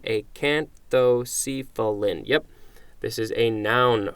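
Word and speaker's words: acanthocephalan: that's an L LAN a can't though see fill-in and I'm just gonna check the pronunciation a can't though see fell in yep this is a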